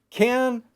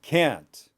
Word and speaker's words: can: And there is a subtle difference. And one of them is one is longer and one is shorter.